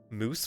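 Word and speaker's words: mousse: reference in the crowd moose flesh but it smell it's spelt m-o-u-s-s-e like chocolate moose but the flesh of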